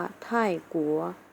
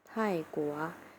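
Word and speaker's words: 泰国: ประเทศ ไทย ราคา แล้ว ออก เสียง นะ ว่า ไท่กั๋ว ไท่กั๋ว อัน นี้ ก็ เป็น ปี่ ชุด เหมือน เดิม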